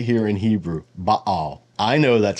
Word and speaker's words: Baal: right here in Hebrew ba I know that's how you pronounce it in Hebrew I also know that in ugaritic it's B o and in English anglicized it usually is pronounced Bale just like yov is